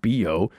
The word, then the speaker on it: bio: Then they got manky, and the bio, here it's pronounced bio, started smelling a lot like BO.